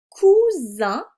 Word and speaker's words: cousin: Le cousin, alors là je dis bien Z parce que je suis entre deux voyelles, le U et le I.